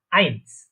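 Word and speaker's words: eins: তাহলে এ এবং ই বা ই অথবা আই, এই দুইটা যদি একসাথে থাকে তাহলে আমরা জানি আই। আই এরকম উচ্চারণ হবে বা এরকম প্রোনাউন্সিয়েশন হবে, প্রোনাউন্সিয়েশন দেখেছিলাম। তো তাহলে এটা কি উচ্চারণ হচ্ছে, প্রোনাউন্সিয়েশনটা কি হচ্ছে, আইনস। ঠিক আছে, তারপরে 2 বা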